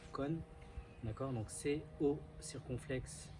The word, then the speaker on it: côn: Donc en vietnamien, ça se prononce con, d'accord?